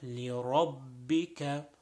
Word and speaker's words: لربك: Next word, لِرَبِّكَ. So over here, making sure the ra is pronounced with a full mouth.